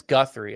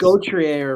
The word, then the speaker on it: Gauthier: Cutter I think it's Guthrie. I think is how it's pronounced. Oh, but it's it's Gauthier or something.